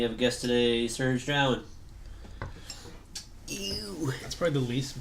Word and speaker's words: Drouin: So it's Hanging with Vrand with Paul Harrison, Chris Vrand, and we have a guest today, Serge Drowen. Ew. That's probably the least butchered I've had my name. Drowen?